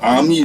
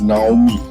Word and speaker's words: Aami: The south is the Karmahiya river, towards which I am traveling just now, and to the north is the Aami river, which Buddhists have mispronounced as Naomi.